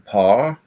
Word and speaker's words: Paar: Ein Paar. And it would be pronounced differently. It'd be Pa.